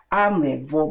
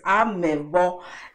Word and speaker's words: Avwebo: Actually, that word should be spelled like with a little bit of V, with a V, with the sound of a V. Avwebo, but we can't say it like Avwebo. Yes, Avwebo.